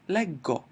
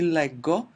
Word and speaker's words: leggo: when I drop the ending and add 'o', I'm gonna get the pronunciation leggo and then it's gonna be leggi, legge.